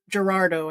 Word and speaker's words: Girardeau: Girardeau, I think it's pronounced, Missouri.